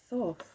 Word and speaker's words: Thoth: situation thank you blimey okay so we've got thoth i know i've pronounced that correctly so this is an egyptian